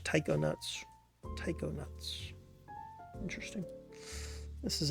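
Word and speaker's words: taikonaut: that's a cool name how do you say that though well they say it's English Taiko nuts Taiko nuts interesting this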